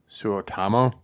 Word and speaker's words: Suotamo: After that, it was I'm going to say his name wrong, like Jonas. Go ahead, you know it? It's Eunice Suotamo.